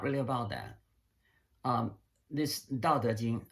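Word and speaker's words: 道德經: Um, this Dao De Jing, which if you spell alphabetically would be Dao. That's the first, the Dao. That's how to pronounce the first character, and the second Chinese character is De. So Chinese pronounces De, and then Jing is Jing, right?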